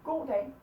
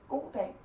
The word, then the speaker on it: goddag: Here we say goddag, goddag. Here we say goddag, goddag. Because it's 2 words, so we put the pressure on both words.